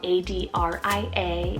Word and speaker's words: Adria: god a name here we have adria spell a-d-r-i-a adria it means from the ancient city we